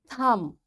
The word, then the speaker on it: thumb: is coming after M this B will be silent we will say com tomb bomb thumb climb and lamb in all these words you can see B is silent. Why? Because before B there is M. So this M is making this B silent and we don't pronounce it.